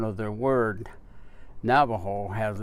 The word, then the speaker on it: Navajo: special information and so the name actually Navajo is a name in its original form when it was given to us by the another it was something that sounded like Nabi Hall and that was the